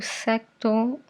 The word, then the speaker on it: sector: O sector não existe porque o C não é pronunciado.